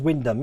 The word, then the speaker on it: Wymondham: So Wymondham is Wyndham.